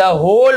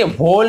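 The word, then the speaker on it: whole: about यानी के बारे में, द होल वर्ल्ड, इसे होल नहीं पढ़ेंगे, डब्ल्यू को छोड़ देंगे, होल डब्ल्यू साइलेंट होता है, होल वर्ल्ड यहाँ पे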